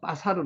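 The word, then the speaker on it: בָּשָׂר: 뭐라고요 뼈 챔이 뼈요 요거는 뭐라 빠사르 사르고 읽어도 되고 여기 강점 이거든요 발음이라고 사르 바사르 읽는데래 발음은 빠사르 하는게 맞습니다 빠사르 살 23절 남자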